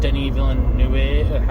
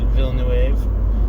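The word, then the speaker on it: Denis Villeneuve: this movie i've seen people say things about denis villanue however you pronounce his name i know it's very french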